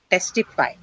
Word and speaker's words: testify: So testify. It's aspirated. Okay, so which syllable is stressed in this word? Testify. T. T. See, Testify. and T. is the first syllable of the stressed syllable. So of course it aspirated, right?